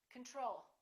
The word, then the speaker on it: control: do we say control we say control second syllable is stressed the first o is reduced repeat after me control the next one is